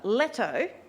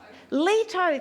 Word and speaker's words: Leto: the story uh a Apollo's mother letto actually I'm not quite sure how to pronounce that does anybody anyone into Greek mythology yeso Leto thank you Grace okay so Apollo's mother